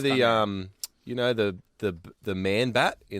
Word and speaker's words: Chimera: I always used to thought it was Shimmerer. Oh, really? Oh, that shimmers in Chimera. this world is sure to fade Away again. It's Chimera.